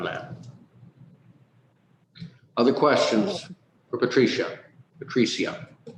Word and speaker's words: Patricia: Patricia. Got to get the accent on the right syllable there.